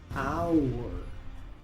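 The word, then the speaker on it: hour: Muchos pronuncian esta palabra, porque normalmente la H se pronuncia en inglés, pero aquí la H es muda, así que esta palabra se pronuncia our.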